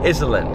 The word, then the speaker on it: Iselin: it's like 10 minutes before Edison right here Iselin yeah it's pronounced Island I know it's kind of uh weird but